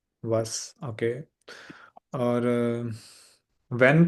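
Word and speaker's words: was: जी तो बताइएगा के बट को कैसे कहें प्रोनाउंस करेंगे हम जर्मन में वस वस ओके और व्हेन को वन वन ओके ओके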